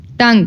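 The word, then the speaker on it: tongue: बट बोलने में नहीं टंग टंग में यू साइलेंट है यू साइलेंट है लिखने में आएगा लेकिन हम इसको प्रोनाउंस नहीं करेंगे यह कैसे बोला जाएगा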